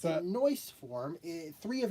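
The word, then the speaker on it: Noice: face and a noise face. No, no, no. No, no ice face. But it's spelled It's just spelled N O I I C E.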